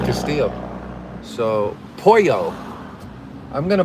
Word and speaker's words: Castillo: I've realized lately that you don't pronounce the L's, right? Just like Castillo.